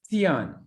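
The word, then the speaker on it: scion: Oh, how do I pronounce that? Sion, Sion.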